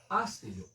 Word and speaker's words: hácelo: el futbolista de Independencia pronuncia una palabra esdrújula. hácelo. Es clarísimo que el acento recae en la antepenúltima sílaba, motivo por el cual,